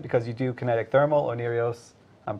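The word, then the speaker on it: Oneiros: Onirios, I'm pronouncing it correctly, by the way.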